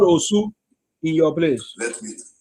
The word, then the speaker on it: Osu: If you pronounce it good, then I can understand. But your pronunciation is very wrong. So it's Osu now. They call it Osu.